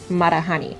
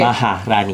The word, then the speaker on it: Maharani: Is that the same thing as Marahani? Maharani? What? Did I say it wrong? Yeah, you said Marahani. Wait, how are we supposed to say it? Maharani.